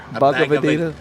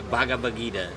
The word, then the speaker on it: Bhagavad Gita: Do you know how to pronounce it? Bhagavad Gita. Bhagavad Gita.